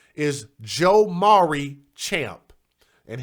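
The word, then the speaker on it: Jomaury: Now, the 4th grade boy's name is Joe Maury Champ. And his name is spelled J-O, and then like Maury, like the Maury Show.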